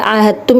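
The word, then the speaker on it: عاهدتم: Jadi ahadtum, ya, ahadtum ini adalah dal sukun bertemu dengan huruf ta. Jadi bacanya ahadtum, langsung kepada taknya, bukan kepada dalnya.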